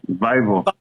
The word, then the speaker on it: Vivour: How do you pronounce Vivour, Vivour.